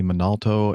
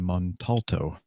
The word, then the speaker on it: Montalto: United Airlines captain Tony Minalto and his family held a funeral for their daughter Gina Rose on Tuesday at Mary Help of Christians Church in Parkland. Employees, did I mispronounce his name? Montalto.